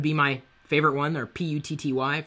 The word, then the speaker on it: PuTTY: my favorite one, or PUTTY. For years, I called it PuTTY because it's spelled like putty. And I guess you could say it's PuTTY, but it's talking about the command put, so it's PuTTY.